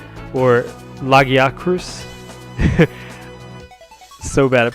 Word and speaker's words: Lagiacrus: Barioth is going to switch away though into Lagacrus, or Lagiacrus. So bad at pronouncing these names.